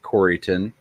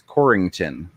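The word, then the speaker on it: Corryton: is c-o-r-r-y-t-o-n corriton but if you pronounce it coryton everybody knows you're not from there because anybody that's from there throws ing into it it's corrington no we gotta fight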